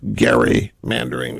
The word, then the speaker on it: gerrymandering: is because of Republican gerrymandering by the way the correct pronunciation is Gary Mann during it's named after a guy named Gary who firsts GE rry